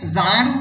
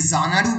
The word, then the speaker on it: Xanadu: তোমরা যদি ভালো করে ক্লোজলি রিড করো তাহলে দেখবে যে জানাডু উচ্চারণটা হচ্ছে জেড দিয়ে, and Z is the last letter in the English alphabet, তাই তো?